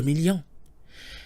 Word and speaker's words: millions: 2 million is, you got it, 2 millions. Note that we add a silent S to million once it's multiplied by a number greater than 1 in French.